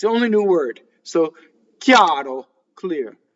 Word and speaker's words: chiaro: So, chiaro, clear, right? CHI is chi, a, chiaro. Notice that I-A, chiaro. It's a semi-vowel from the E position. No Y, chiaro, right? No, chiaro.